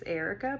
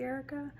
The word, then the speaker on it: Arika: And the first name of my main character is Arika, but it's A-R-I-K-A, so it's not really Erica.